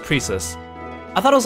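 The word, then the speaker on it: Precis: tinkering Away by herself okay so it is pronounced Prius I thought it was like preus because her name looks like Precious Precious preus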